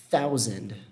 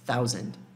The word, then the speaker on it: thousand: Thousand. Thousand. Eu amo essa palavra por algum motivo. Eu acho a pronúncia dessa palavra muito, muito massa. Thousand. Thousand. Tem de novo aquele Tzinho H soprando, né?